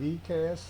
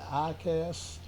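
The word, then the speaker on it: EICAS: I call it ECAS. Some people pronounce it ICAS.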